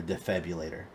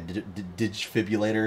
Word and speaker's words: defibrillator: And he goes, I looked online and bought you a defibrillator. And everybody's arguing about how it's actually pronounced. And he just keeps calling it like a digifibrillator or something like that.